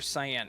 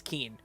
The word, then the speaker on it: Keen: Is it pronounced or Cyan? It's Keen.